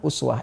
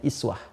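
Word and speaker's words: أسوة: Nah, di bab qiraat bacaan uswah ini itu bisa juga dibaca dengan iswah. Ya kan? Iswah. Jadi ada dua cara baca di sini.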